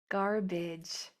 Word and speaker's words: garbage: Garbage. This a is being spelled is spelling the short i sound.